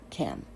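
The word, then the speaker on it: חם: Now, the word is actually pronounced Cam, and it is spelled with the Gutra H, Keith, Kim. The popular pronunciation with the inspired H is a product of sloppy scholasticism.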